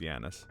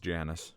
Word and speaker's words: Janus: Also, I don't think it's pronounced Giannis. They may pronounce it that way in the movie, but I do think it's a Latin word, so I think it's actually... It would be pronounced Janus with a J.